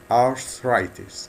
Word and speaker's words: arthritis: arthritis ناخد بالنا في النطق من الكلمة ديت.